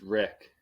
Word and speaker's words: Reick: big time guess Mr how do you say your last name it's Rick Rick okay I've never claimed